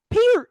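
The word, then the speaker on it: Peart: The man himself said that his name is pronounced Peter. That wasn't the argument. The argument was the rock and roll world knows him as Neil Per.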